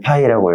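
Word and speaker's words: Φ: 있어요 기호로는 이렇게 씁니다 읽을 때는 파이라고 읽어요 이거는 쉽게 말하면 자기력선에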